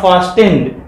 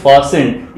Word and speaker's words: fastened: This is नॉट फास्टेंड, this is फास्टेंड. In this word T इज in silent.